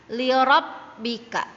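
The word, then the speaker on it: لِرَبِّكَ: Kemudian ro ketemu dengan ba yang bertasdid, maka membacanya juga agak ditekan ya. Lirabbika. Lirabbika. Jadi huruf ro itu mengikuti dengan huruf ba-nya.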